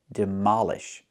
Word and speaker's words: demolish: Pronunciation, demolish. Put the stress on the second syllable.